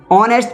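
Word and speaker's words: honest: ऑनेस्ट पढ़ा जाएगा तो ऑनेस्ट काहे से शुरू हो रही है? स्वर या व्यंजन। स्वर से। किससे? स्वर से। यानी आ से आ तक के बीच में इसका उच्चारण आ रहा।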